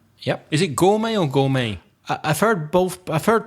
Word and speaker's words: gourmet: Where's the silent letter in gourmet? Well, it's the silent T at the end. Yeah. So can you spell it out for the listeners? They might not know that word. Is it G-O-U-R-M-E-T? Yep. Gourmet?